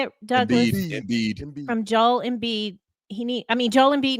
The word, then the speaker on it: Embiid: Embiid.